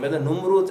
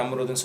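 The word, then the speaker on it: نمرود: சோ சரியான உச்சரிப்ப நுரூத் அப்படிங்கறத ஞாபகம் வச்சுக்கங்க. ஆனா நம்ரூத்ன்னு சொல்லிதான் கேள்வி படுறோம்.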